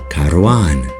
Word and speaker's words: karwan: This is the same word that Kurds pronounce as karwan.